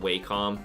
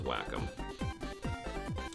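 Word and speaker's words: Wacom: good enough whack them it's w c o m just pronounce it like waycom or like say it like won but the company says whack them I don't know where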